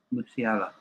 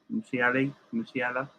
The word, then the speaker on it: Musiala: How do you pronounce his name? Musiala. Musiala.